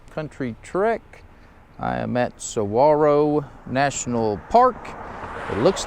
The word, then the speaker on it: Saguaro: mile Grenadier cross country Trek I am at sawaro National Park it looks like Saguaro but it is pronounced pronounced Saro and so this is a continuation of day